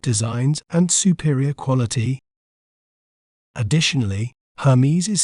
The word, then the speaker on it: Hermès: word to better understand its pronunciation we may pronounce it as heres heres H mes Hermes Hermes is renowned for its iconic pieces such as